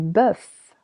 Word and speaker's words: bœuf: Du bœuf. Du bœuf. Beef. Same as an egg, letter O is silent.